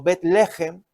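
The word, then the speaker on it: בית לחם: Efectivamente, Belén o Betlehem, es la pronunciación en hebreo, significa Bet es casa, Lehem es pan, casa del pan.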